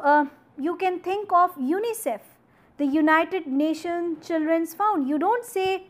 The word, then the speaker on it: UNICEF: United Nation children's found you don't say you and I CF rather you say UNICEF so you are pronouncing as if the as if it is a complete word as it has it